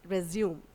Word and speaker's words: resume: It's been always mispronounced as resume.